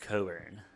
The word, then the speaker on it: Cockburn: excuse me it does it is spelled phonetically like cockburn but it's pronounced coburn obviously for obviously some